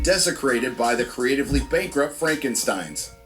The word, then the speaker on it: Frankenstein: And desecrated by the creatively bankrupt Frankensteins. It's pronounced Frankenstein.